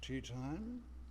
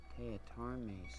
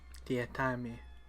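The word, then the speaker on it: Teatime: Mr. Tea Time? It's pronounced Teatarme, sir. Teatarme. Everyone gets it wrong, sir.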